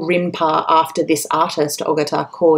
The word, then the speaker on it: Rinpa: Japan that's known as rinpa in fact it's called rinpa after this artist aatar CAU in so you can hear the Rin syllable in the end of his um family name and that becomes the name